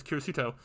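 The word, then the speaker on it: キリスト: I've heard that Kiri symbolizing 10 comes from the Christian cross, which is shaped like the character for 10 and Christian being pronounced as Kirisuto.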